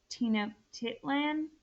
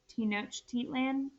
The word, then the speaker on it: Tenochtitlan: going to learn about tina titland or tenochtitlan it's pronounced two different ways and it is the